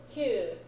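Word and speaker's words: 九: Q, 9. Q, 9. Q, 9. 9, Q. 9, Q. 9. Q. You may remember from the textbook that ku is given as an alternate reading.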